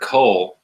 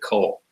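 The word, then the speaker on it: כל: if you remember to always pronounce this word Cole regardless of what vowel is under it whether it has AUM over the cough or a comates under the cough just always pronounce it Cole but students usually want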